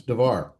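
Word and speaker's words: דבר: Davar Davar, yes, Davar.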